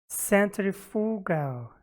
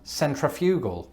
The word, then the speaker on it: centrifugal: at the results so i've always known this word as centrifugal but you say centrifugal why is that a force